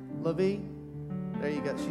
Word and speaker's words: LaVie: LaVie?